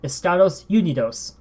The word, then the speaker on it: Estados Unidos: we use ee dot u u dot for Estados Unidos for the United States and here's the spelling